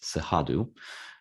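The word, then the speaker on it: Cerrado: region which is it's spelled c-e-r-r-a-d-o but it's pronounced sehadu and the sahadu region is the second largest biome in brazil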